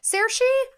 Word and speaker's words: Saoirse: Saoirse. That's a beautiful name, but I would never know that's how you pronounce it.